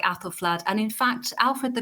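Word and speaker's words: Æthelflæd: the the ae which was known as the the ash sound and you find that in names like apple flood and in fact alfred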